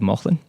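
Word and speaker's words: Mauchline: up in a little town called uh called Mothman which is um an old mining town how do you spell that m-a-u-c-h-l-i-n-e okay yeah it's um very cool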